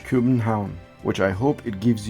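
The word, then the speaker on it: København: city of Copenhagen or as it's pronounced in Danish Cuban town which I hope it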